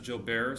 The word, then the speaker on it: Gilbert: jabber syndrome they call it jabber technically it's pronounced jilber syndrome but it's spelled gerber gilbert so I